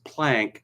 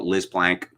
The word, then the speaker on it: Plank: Someone called Liz Plank, and this is again a violation of my two-name rule, Plank or Planck, it's pronounced in the German fashion.